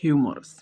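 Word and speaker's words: humorous: তো যদি শুদ্ধ উচ্চারণ করি হিউমারাস।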